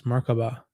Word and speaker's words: Merkaba: It is seen in other cultures as Merkaba, Merkaba, or Merkava. There are several pronunciations, but generally you pronounce it as if the three syllables are separate, with equal accents on each.